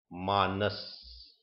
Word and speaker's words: Manas: We move ahead today into the seventh consciousness, and the seventh consciousness is called Manaha in Sanskrit, or Mansha, or Manas in English. It is spelt as M-A-N-A-S, Manas.